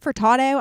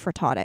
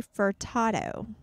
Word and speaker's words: Furtado: is nelly furtado now how do you say her last name furtado i feel like i'm saying like frittata that's not how you say it yeah it's like a it's like a like a dish man i peeled that